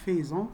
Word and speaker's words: faisons: طبعا مستغربين شوية على nous faisons مش faisons, هي كده بتتنطق كده, nous faisons, vous faites, وأخيرا ils font.